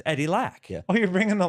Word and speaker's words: Eddie Lack: it's I'm not gonna say it do I pronounce it right yeah yeah it's you're right it's Eddie Lack yeah oh you're bringing the lxer sing selling